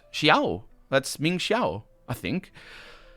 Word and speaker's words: Xiao: I have now also realized that they don't pronounce the name Xiao properly. They say Zhao. But in a game that says LaCroix, I suppose Zhao is only appropriate. Also, I think in America there's a common pronunciation of Chinese names that does say the X as a Z sound. The normal Z sound doesn't